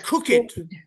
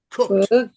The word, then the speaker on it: cooked: There's cooked, cooked, and cook it. All right. The correct way to say that one is cooked. Cooked. Cooked. Like it's a T sound.